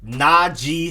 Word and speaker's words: Najee: The next up, you have running back Najee Harris. And apparently it's Najee, not Najee, Najee Harris. I've been saying Najee this whole time.